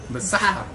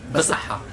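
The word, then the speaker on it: بالصحة: Basaha. Like haha at the end. Basaha.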